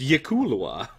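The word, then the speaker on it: Yklwa: It is pronounced Yikulwa.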